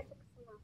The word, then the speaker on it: suksma: Tulisannya Suksma. Matur suksma gitu ya, Kak? suksema. Iya, matur suksema, tapi dibaca suksema.